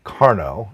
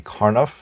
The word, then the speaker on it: Karnaugh: I pronounced it Karnaugh, and I've been pronouncing it that way for many, many years, although it could be Karnaugh.